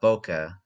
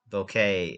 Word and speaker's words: bokeh: of uh anamorphic uh bokeh bouquet uh boca i think it's what it's pronounced bokeh b-o-k-e-h um if i find